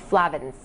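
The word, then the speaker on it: flavones: es but it's pronounced Slavens with an a long a so these Flavin's could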